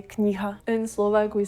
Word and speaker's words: kniha: So I noticed Kniha. It's h sound.